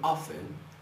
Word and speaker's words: often: pronuncia o t nãoé não se pronuncia o t a gente diz do you often often practice SPS of prce SPS